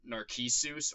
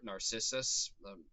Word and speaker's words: Narcissus: And so Ekko uh is attracted to a man named Narisus or Narcissus depending if you want to use the Latin pronunciation there or not.